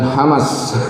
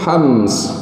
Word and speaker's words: hams: schoolido hams Walau begitu tersebut dengan betul hamster kan hamas hamas hamas tapi sebutannya dia yang betul hams begitu sebutan ya bacanya